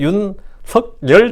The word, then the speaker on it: 윤석열: 한국의 윤석열 대통령인데 발음대로 윤석열입니다. 근데 전부 다 한국 기자들 누구나 윤석열이라 그래요. 석열이 맞아요. 석열이 맞을 것 같아요. 이 국립국고에도 문의한 겁니다. 석열이 맞습니다. 윤석열이 기억에다가 이응이니까 석열이 맞는데 아무도 윤석열이라고 그러지 않고 다 윤석열 그러거든요.